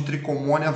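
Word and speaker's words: Trichomonas: gente vai chamá-lo de tricomoníase vaginalis tá embora se inscreva com ch mas a gente pronuncia como se fosse escrevo só com cê tricomoníase é né trichomona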